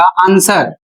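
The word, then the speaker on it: answer: व का उच्चारण नहीं होगा। अर्थात डब्ल्यू यहां पर साइलेंट है।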